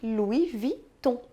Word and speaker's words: Louis Vuitton: sabe então né II outras letrinhas que a gente encontra juntinhos com muita frequência é o e o n como pronunciadas na verdade é super simples elas tensão de um como encham de um decatilum e Louis Vuitton Repita comigo Chandon Decathlon